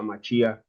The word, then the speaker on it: Mashiach: Mashiach o al Mesías, se pronuncia Mashiach en español, ¿ok?